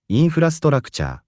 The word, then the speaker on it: インフラストラクチャー: We pronounce it インフラストラクチャー。 infrastructure works too, but in daily life we just say インフラ。